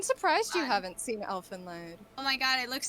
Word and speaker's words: Elfenlied: So, did any of you watch Elfenlied?